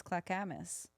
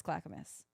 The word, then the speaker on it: Clackamas: Clackamas Oregon Clackamas Clackamas maybe I'm saying it wrong maybe it's clockamus I think it's Clackamas okay I believe you